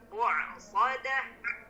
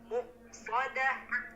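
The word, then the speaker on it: مؤصدة: Nah, pada huruf hamzahnya tadi jangan terlalu ditekan Pak. Nah, tadi terdengarnya karena terlalu ditekan jadi berubah menjadi huruf ain. Jadi muqsadah. Cukup aja muqsadah. Muqsadah. Nah, tidak boleh terlalu ditekan.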